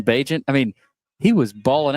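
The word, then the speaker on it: Bagent: Well, Tyson Badant produced. Is that how you pronounce his last name last night with the Bear? Tyson Bagant.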